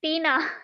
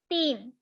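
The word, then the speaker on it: तीन: Don't pronounce this word like Tina. It will be a name. Okay, so the ta will be pronounced like t. Sorry, the t will be pronounced like ta.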